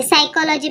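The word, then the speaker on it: psychology: के सगळीकडे सायलेंट आहे इकडे सायकॉलॉजी पण एस पासून आपण बोलतो पण पी आधी असतो म्हणून पी सायलेंट निमोनिया मध्ये पण पी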